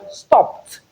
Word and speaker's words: stopped: The sound before the ed d is p. We have p in stopped. we have before and is voiceless. Hence we realize the ed as t which is equally voiceless.